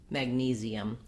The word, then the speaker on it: magnesium: In something like magnesium, to get that vowel difference and that length, it can help to start on the stress syllable, which in that case I would say nesium, magnesium.